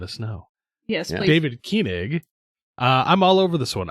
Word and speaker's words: Koenig: I slaughtered I'm them. pretty sure it's pronounced Koenig. The only reason I say Koenig is because there was a book series I read that the character's last name was Koenig. It was Doug Koenig.